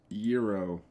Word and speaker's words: gyro: okay, Moe's Gyro. Yes, that's how you pronounce it, not gyro.